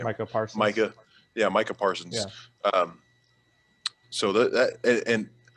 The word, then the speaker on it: Micah Parsons: i have i have carolina picking up michael micah pearson's mike is it i don't know how to say his name michael parker micah yeah micah parsons um so that and like i said hopefully